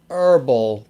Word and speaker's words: herbal: i've heard it's really herbal tea uh so it's like you dropped it's like the h is silent so it's like you're